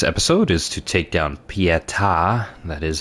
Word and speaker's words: Pieta: Our goal for this episode is to take down Pieta, that is how you pronounce her name, and also make our way to the hub area and explore all of that.